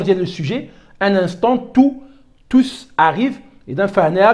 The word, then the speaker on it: tous: Un instant tous arrivent. Et dans فهنا كنطقوا بعد الاس عضو مع tous arrivent.